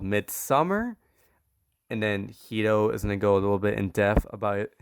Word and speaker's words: Midsommar: So let's start with Midsommar, right? That's how you pronounce it.